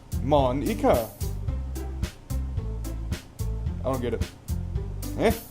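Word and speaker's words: Monika: Monica. I don't get it. Eh? It's not how you say my name at all. Monica.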